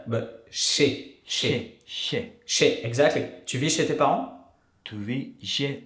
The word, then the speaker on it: chez: Chez? Chez. Oh, chez. Chez. Tu vis chez tes parents? Not like the ceviche, but like not the ch. The tongue that doesn't go t, but chez.